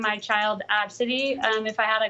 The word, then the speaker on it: ABCDE: post her boarding pass the girl's name is spelled ABCDE but it's pronounced AB City oh okay AB City and City that's not